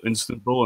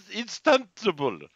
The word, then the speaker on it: Istanbul: I actually had to Google Istanbul, and that was in Turkey. So Yeah, we know, dude. I love how you mispronounced it twice. Istanbul. It's Istanbul.